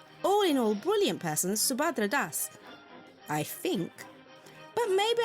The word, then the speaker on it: Subhadra: better than I can so I call myself subadra because I went to English schools and an American school and that's how white people say my name and it's like what I'm used to responding to Hindi speakers say subadra in Bengali it's shadra because we're very a or or or round sounding people but do you ever